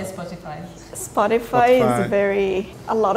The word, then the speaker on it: Spotify: actually pronounced in Finnish if we pronounce it in Finnish way it would be spotifu but no one says that we all say Spotify Spotify is very a